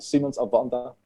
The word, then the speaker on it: Siemens Advanta: Do I pronounce it right? Siemens Advanta? Yeah, that's correct. Is it Siemens Advanta? Exactly. Exactly that.